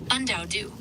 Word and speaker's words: Undou: Un like unlikely, unknown. Say un. Okay, I understand. It's spelled U N D A O D U. Undou.